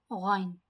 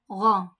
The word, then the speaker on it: غ: Makhraj of Gha is it comes out from the upper part of the throat and it is a thick word. Gha. Repeat with me. Gha, Gha, Gha. Don't say it like Gha. It is not Gha. It is Gha.